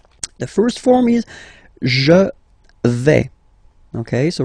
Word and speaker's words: vais: The first form is je vais. Okay, so remember, final S not pronounced here. Je vais. Okay, when you combine this A-I, you get the sound E, really open.